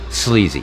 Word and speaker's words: Sleezy: to clarify one thing my name is spelled SL e e zy Zack why out here hey Zed you say is that I say Z sleazy and it's not easy